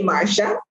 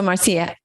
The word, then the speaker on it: Marcia: Most Americans say Marcia, but I'm from the Caribbean and say Marcia.